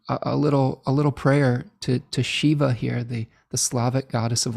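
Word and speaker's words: Živa: goddess of life, and I believe it's pronounced Shiva, similar to the Indian god, but if there's a better pronunciation, please help me out with this.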